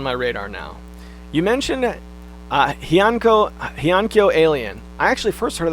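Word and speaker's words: Heiankyo Alien: You mentioned Hyankyo Alien. I actually first heard of that game on the old Nintendo podcast. It's pronounced Hankyo Alien. I'm not sure if that's right or not.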